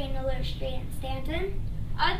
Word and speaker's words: Staunton: Our city is pronounced Stanton, not Staunton. If you say Staunton, everyone will know that you're from out of town.